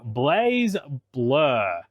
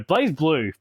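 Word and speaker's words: BlazBlue: into the fighting genre Blaze blur no blaze blue blaze blur what am I thinking uh this is the Continuum Shift variant I love Blaze blue even though I mispronounced it I do like my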